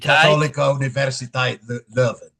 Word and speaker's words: Katholieke Universiteit Leuven: How do we pronounce this in Dutch? Universiteit. Katholieke Universiteit Leuven.